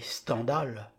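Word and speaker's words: Stendhal: qu'on appelle algèbre continuet-il dans l'absolu on devrait prononcer standal puisque cet 1ème pseudonyme de Monsieur Henry Bell est calqué sur le mot scandale ce nom vient d'une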